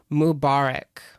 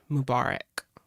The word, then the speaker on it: Mubarak: fairs in San Francisco Mubarak yeah that's how you say it Mubarak let me see that